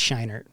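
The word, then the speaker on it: Scheinert: too we are pretty is it shiner it's not shriner it's shiner uh so these two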